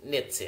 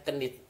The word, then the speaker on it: knits: Knits, nah ini baca knits, ya, tulisannya kenit tapi bacanya knits.